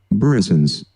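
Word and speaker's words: brisance: It's and then I also looked up how to pronounce it. So here, what is this word? Everybody listen. Burrisons.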